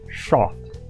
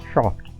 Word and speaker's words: SHOFT: And yes, you heard that correctly, it's pronounced SHOFT. As in the way the word soft would sound if the original James Bond, the late great Sean Connery, said it. SHOFT.